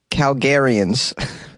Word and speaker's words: Calgarians: How do you pronounce that? Calgarians.